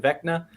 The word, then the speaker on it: Vecna: But I know you think, what is it, Vecna?